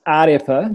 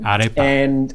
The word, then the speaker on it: Ārepa: So it's pronounced Ārepa. Ārepa.